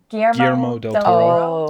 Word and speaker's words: Guillermo del Toro: Guillermo del Toro.